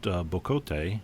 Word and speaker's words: bocote: I used bocote, which is the correct pronunciation, and I like to look into the